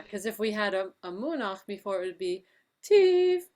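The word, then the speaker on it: מֻנַּח: Monach. You had the music right and the name wrong. That's Munach, and then after Yeah, that you Nasim.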